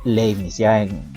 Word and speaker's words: Leibniz: Leibniz, por más que esté escrito Leibniz, ustedes ya vieron en el curso que este señor es alemán, por lo tanto se pronuncia Leibniz, ¿ya?